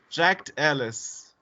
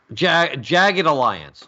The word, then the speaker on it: Jagged Alliance: the 90s so I'm seeing denim jackets but jacked Ellis or I probably I'm pronouncing it wrong checked Alliance perhaps Jagged Alliance Jagged Alliance okay okay you say check it